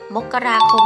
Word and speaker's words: มกราคม: ราชบัณฑิตยสถาน พุทธศักราช 2554 ซึ่ง กำหนด ให้ ออก เสียง เดือน มกราคม ได้ 2 แบบ คือ มกราคม หรือ มกราคม นั่น เอง ค่ะ จริง ด้วย ค่ะ